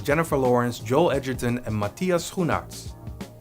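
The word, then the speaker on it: Matthias Schoenaerts: Lawrence Joel Edgerton and Matias you nuts that's how you pronounce his name in this movie Jayla plays Dominica a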